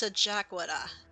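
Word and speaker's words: Scajaquada: when they see it that's pronounced sajakwada and i'm just like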